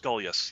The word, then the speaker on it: Gulyas: So I'm just going to make sure that it's, is it Gulyas? Gulyas, yeah.